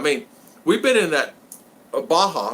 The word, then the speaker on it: Baja: Baja, that's how you say it, Baja.